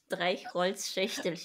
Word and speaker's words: Streichholzschächtelchen: So, Streichholzhacktelchen. I have no idea. Can I have a go? Yeah. Streichholzschächtelchen. Yeah, richtig. Streichholzschächtelchen.